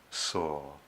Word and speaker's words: Sau: same time mentally repeat the mantra saw which rhymes with saw s.a.w misspelled sa you saw make no attempt